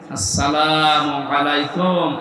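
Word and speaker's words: السلام عليكم: প্রবেশ করেন এ শব্দটাকে আর যারা এখনো পর্যন্ত উচ্চারণ শেখেননি তাদের কপাল নষ্ট হওয়া না আজকে থেকে ঠিক করে নিবে আসসালামু আলাইকুম আদম থেকে শুরু করে আমাদের নবী পর্যন্ত প্রত্যেকের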